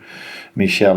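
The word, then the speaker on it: Míchel: With this budget, probably means how good of a manager Michel is. Is that the way to pronounce it?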